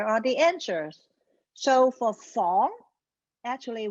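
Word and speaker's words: 房: So there are 2 ways to pronounce the word room. One is fong. This is in the original tone. The other one is fong.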